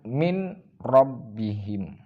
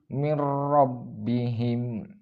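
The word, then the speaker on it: مِن رَبِّهِم: tidak mendengung dari bacaan Mine robbihim mim robbihim jadi cara baca yang benar yaitu mirrobbihim dengan suara tidak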